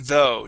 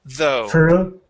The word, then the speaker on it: though: So the GH here in both of the words are silent. Okay. So through and though. Try those two one more time. Through though.